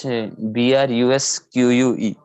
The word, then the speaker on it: brusque: Sir, that is BRUSQUE. BRUSQUE. That particular word is brusque is how you pronounce the word.